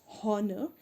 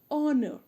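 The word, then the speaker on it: honour: read h-o-n-o-u-r it's not honor it's honor so it would be an honor and our an honest man so h is silent here and that is why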